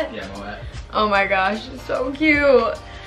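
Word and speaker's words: Moët: Yeah, Moet.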